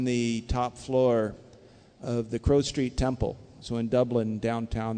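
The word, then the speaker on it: Crowe Street: top floor of the Crow Street Temple so in Dublin downtown there's a place called Crow Street it's like a crow but it's spelled with an E CR we and uh we had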